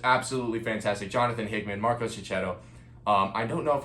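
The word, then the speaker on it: Checchetto: fantastic Jonathan Hickman maros chetto um I don't know if I'm ever pronouncing Marco Chet's name right I've had comments telling me it's ketto cetto um I'm going to with ketto Marco ketto I'm I'm sorry if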